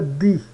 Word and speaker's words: die: Isso aqui se pronuncia dea. O IE se pronuncia die.